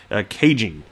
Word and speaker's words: Caijing: Economic Outlook conference hosted by Chinese financial magazine Caijing. That's how it's pronounced.